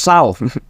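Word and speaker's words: XAU: del dólar estadounidense y se escribe con la abreviatura x a u nosotros lo leemos sa pero se escribe x auu que es la abreviatura para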